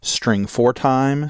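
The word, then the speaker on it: strftime: is stf time now you can either pronounce that string for time string format time but the idea is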